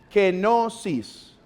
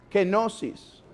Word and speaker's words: kenosis: postura de la genosis se escribe como se escucha pero no lleva q sino lleva K kenosis kenosis el nombre de esta